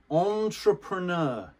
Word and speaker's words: entrepreneur: of intra entra prenia it's the french pronunciation oh see in french